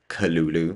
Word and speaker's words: Cthulhu: You guys probably seen the title that is Charlie Theren's bob was my personal cthulu. And I just researched and apparently the correct way to pronounce cthulu is culu.